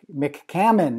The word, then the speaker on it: McCammon: I got to see if I can pronounce his last name sizzle difference it's Mick Mick Hammond is that right that's very good good good yay McCammon so how are you today I'm doing